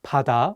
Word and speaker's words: 바다: Let's do another example with the word 바다, which means sea. The pronunciation of 비읍 in this word is different than the one in 가방. In this case, the 비읍 is pronounced more like 피읍.